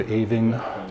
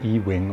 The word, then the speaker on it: Ewing: family tree doch gute Ewing der Ewald Eving die Joke Ewing wird tatsächlich auch nicht ewigen ausgesprochen oder E-Wing oder so sowie der X-Wing aus Star Wars sondern halt Ewing und ja jetzt nicht